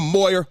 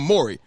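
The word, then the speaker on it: Morey: is that he said Daryl Moyer I'm sorry the GM I pronounced his name I'm sorry Daryl Mori the GM of my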